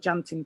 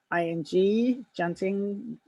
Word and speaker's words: tjanting: You can paint on the wax, or you can use something called junting pen, which is spelt TJANTING, junting.